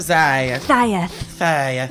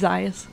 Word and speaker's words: Zayas: Zayeth. No, I'm kidding. It's Zayas.